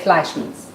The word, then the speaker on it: Fleischmann's: I bet it's like Einstein, right? So you're going to say Fleischmann's.